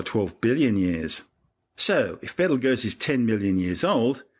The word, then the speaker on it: Betelgeuse: It's currently referred to by astronomers as Betelgeuse, which has been commonly corrupted to Betelgeuse. Don't say it three times. Both names are actually tortured mispronunciations of its original Arabic name, Ibtalyaza, meaning the hand of the big man.